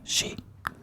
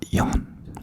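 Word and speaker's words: 四: cursed, because the number 4 in Japanese is pronounced she, and she also means death.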